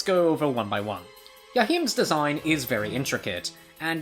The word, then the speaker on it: Joachim: Despite starting my early Castlevania obsession by calling him Joachim, I know, you can make fun of me all you want, I later learned of how to actually pronounce his name, and everything just settled in afterwards.